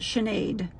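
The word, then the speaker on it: Sinead: s i n e a d and you pronounce that chenade so you can tell that Irish is AR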